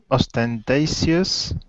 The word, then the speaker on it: ostentatious: maybe arrogant or entous pronunciation is entous ostentatious ostentatious ostentatious good that's correct ostentatious is the best